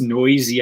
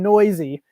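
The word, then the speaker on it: Neuse: a's for infielder sheldon noose and right kind of wait how do you how do you pronounce it actually it's pronounced noisy i know really unusual noisy yeah yeah that's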